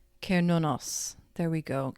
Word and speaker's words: Cernunnos: It's pronounced Kernunos. There we go. Cernunnos.